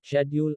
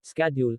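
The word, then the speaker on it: schedule: colour centre उच्चारण pronunciation शेड्यूल का उच्चारण ब्रिटिश में शेड्यूल और अमेरिकन में स्ेड्यूल होता है शब्दावली वोकैबुलरी ब्रिटिश में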